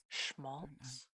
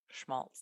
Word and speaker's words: Schmaltz: namez I think I don't know how you pronounce it it might be schz schaltz Schmaltz that's right um okay so so I should